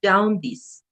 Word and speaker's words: jaundice: that's interesting and it's the correct pronunciation is down this Japanese jaundice I don't